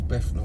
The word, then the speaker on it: Bethnal: Bethnal Green was always Bethnal with 3 F's. And it's spelt with a B-E-T-H.